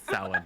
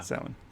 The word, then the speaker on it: Samhain: Specifically, Samhain. Got it. She has a brother named Dean. Just kidding. No, it's Samhain. Yeah. Samhain.